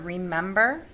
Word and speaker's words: remember: first all right so when you read the word remember which acts which syllable is accented remember it's the second one if it were a